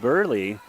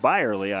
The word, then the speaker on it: Byerly: This is number 8, Burley, back to serve. Byerly, my apologies. That's how you pronounce it, I believe.